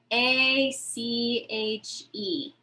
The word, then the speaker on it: ache: ache back ache backache you notice the word ache a c h e ache it kind of sounds like a k ache ache headache stomach